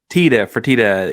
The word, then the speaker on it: Fertitta: Did I pronounce that right? Is it the Fertitta Center or Fertitta? Fertitta.